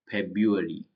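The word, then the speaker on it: February: month का नाम है फेब्रुअरी फब फेब यरी फेबरी उसके अंदर of pronounced without first are पहला आर यूज नहीं होता है फेबरी फेब्रुअरी पहला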